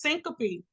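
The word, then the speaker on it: syncope: for example the medical term for fainting is syncopy simple it's pronounced Syncopy I do need you to know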